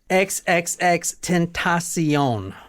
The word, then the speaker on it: XXXTentacion: see you SE e on like Oprah's network XXX tentasion now the book we're reading tonight is from